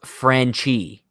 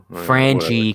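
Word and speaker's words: Franchy: It's pronounced Franchi. Franchi. Franchi. Franchi. It's Franchi. Franchi Cordero.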